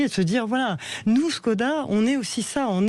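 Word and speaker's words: Škoda: Skoda. Alors les Tchèques, ils disent Skoda. Parce que c'est tchèque au départ.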